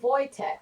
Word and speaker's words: Wojtek: us watch tech Wojtek wool Wojtek that's how you pronounce it Wojtek is that your first name okay Wojtek okay I could say